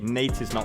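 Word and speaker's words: Neitiznot: I am bringing the Nate is not face guard yes that is how you pronounce it if you think that's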